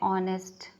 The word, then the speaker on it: honest: बट अगर दिया है ऑनेस्ट तो ऑनेस्ट की स्पेलिंग होती है HONEST. तो एच क्या है, कॉन्सोनेंट है. बट इसके सामने ए का यूज़ कभी नहीं होता है. अगर होगा ऑनेस्ट मैन तो एन ऑनेस्ट मैन होता है, ए ऑनेस्ट मैन नहीं होता है.